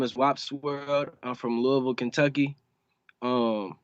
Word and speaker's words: WOPSWORLD: Because I'm looking at. Everybody say something. I know do that to trick people up like me. So it's WOPSWORLD. It's WOPS World altogether.